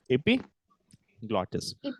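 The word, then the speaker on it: epiglottis: IG glotus what is the name of it EP glotus let me let me spell it e p i g l o d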